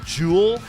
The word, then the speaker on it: Juul: Is that how you pronounce it? Jewel.